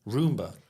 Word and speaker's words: Roomba: Is it Roomba? Roomba. Yeah, like you're cleaning your room.